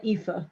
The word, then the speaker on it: Aoife: Is it Aoife? Yeah, Aoife. Aoife. Oh, I'm so sorry. Okay, so Aoife.